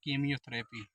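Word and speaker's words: chemotherapy: तो यहां पर देखिए सी के बाद जस्ट सी के बगल में चच आया है तो यहां प इसका जो है उच्चारण हम च से योप नहीं करेंगे बच्चों यहां प इसका उच्चारण हम का से करेंगे तो हमारा क्या हो जाएगा कीमोथेरेपी अगर आपको हमारा वीडियो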